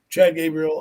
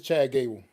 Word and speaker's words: Chad Gable: hope uh I'm say I think I'm saying his name wrong but um I hope he does well are but it's all right we get it what is his name we it's Chad Gable it's just Chad Gable I yeah said said